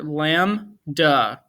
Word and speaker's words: lambda: And it's spelled pretty much how it sounds. L-A-M, that's an A right there, lambda. Okay. Now it's either this or, and I say or because there are people that do spell it differently. Okay. It's either lamb and then duh, or it's lamb and then duh. So it's sometimes it's with a B, sometimes it's without a B.